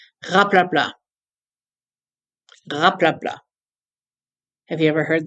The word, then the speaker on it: raplapla: This is spelled a little bit differently. It's R-A-P-L-A-P-L-A, raplapla, but without the T.